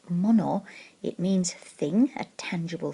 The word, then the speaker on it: 物: of the word is this character here it's pronounced mono it means thing a tangible thing something that